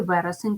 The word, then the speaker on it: вересень: найбільше квітує у вересні Подивіться на слово наголос падає на перший склад нам потрібно запам'ятати що в слові вересень треба писати дві букви